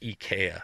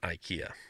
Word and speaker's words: IKEA: then he's from sweden he says it is definitely pronounced ikea not ikea there's another one that